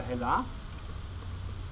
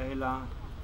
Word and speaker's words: Helle: habt das ist von helle oder hella wird zwar helle geschrieben aber ela ausgesprochen das ist dass heller